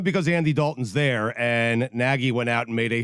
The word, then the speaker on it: Nagy: Nagy, although it's spelled Nagy. Nagy. If you're in Chicago, it's Nagy.